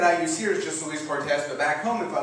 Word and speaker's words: Luis Cortes: Like everybody has the name Luis Cortes back home. Now, here, that's how I pronounce it. I pronounce it Luis Cortes.